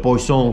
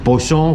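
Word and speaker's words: poisson: siempre pruebes el famoso paulson que no sé francés pero es más o menos como lo pronuncian ellos pues son que tras la comida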